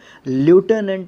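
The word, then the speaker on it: lieutenant: लेफ्टिनेंट इसको pronounce किया जाता है, और स्पेलिंग LIEU से शुरू होती है, तो I और E जो है इसमें बोला ही नहीं जाता, लेफ्टिनेंट होता है ये।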